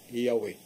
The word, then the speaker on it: Yahweh: Nga mo nang malitok na sa Yod, He, Waw, He, patra ka litra sa Hebreo, can be pronounced Yahweh.